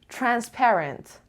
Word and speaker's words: transparent: number 11 so practical transparent transparent the data transparent data data transparent so transparent the stresses on the transparent transparent on the second level transparent obvious easy to